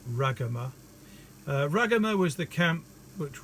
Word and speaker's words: Ragama: On to Ragama. Now, I used to pronounce this Ragama, and I noticed that our Sri Lankan members of the study circle pronounce it Ragama.